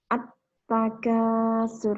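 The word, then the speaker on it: التَّكَاثُر: At-takasur ini. Al diikuti tak. Nah, cara membacanya bagaimana? Al semacam ini harus diidghamkan. Maksudnya apa? Bunyi huruf lam yang hilang dan melebur ke dalam huruf berikutnya.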